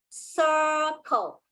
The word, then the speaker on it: circle: Because the C here is followed by a I, okay, which is the soft C rule. Whereas the second C here is not followed by I, E, or Y. So this word is circle.